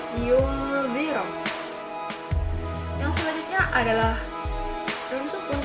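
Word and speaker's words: ينذر: Yang selanjutnya adalah yunziro, nun sukun bertemu dengan zal, itu adalah hukum bacaan ikhfa, yang mana bacanya itu disamarkan atau seperti mengucapkan huruf am, yunziro.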